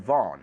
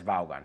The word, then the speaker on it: Vaughan: So there's Richard Brown and Richard Vaughan, or Richard Vaughn, if you know how to say it correctly. But even he says Vaughan.